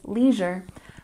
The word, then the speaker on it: leisure: good and number 12 is Leisure with stress on the first first syllable Leisure Leisure one more